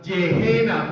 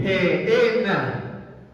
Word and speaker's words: Gehenna: de una palabra griega, Gehenna, con G de gato. Se pronunciaría literalmente Gehenna. Pero en español, en nuestro español motilón, ureñense, pero la palabra se pronuncia Gehenna.